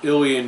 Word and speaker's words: Ilion: and purchased you know this year anyhow it's pronounced illy in New York the Marlin company originated in north